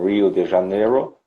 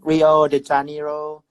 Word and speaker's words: Rio de Janeiro: It's different from Rio de Janeiro, that it's a touristic city, and the tourists